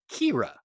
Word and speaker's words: Khira: k h i a and is pronounced Kira cool the next question